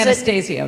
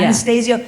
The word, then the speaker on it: Anastasio: Is that how you pronounce it? Anastasio, yeah. Anastasio.